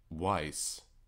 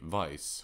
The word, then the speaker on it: wise: I feel like I've for all my videos I've been mispronouncing the word wise, because I say vice when it should be wise.